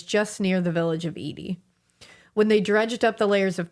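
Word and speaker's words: Ede: Now, the next one I'm going to talk about is I think it's pronounced the Edie girl. Okay. I looked at several pronunciations for this. I believe it's Edie.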